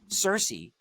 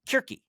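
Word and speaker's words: Circe: learned for example that Cersei yeah is actually pronounced kiry yes like that's our our professor was like well most people say it's kiry but we're let you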